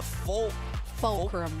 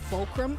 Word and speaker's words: Fulcrum: In my head as well, I did say Vulcram at one point like like kind of like vulture like V.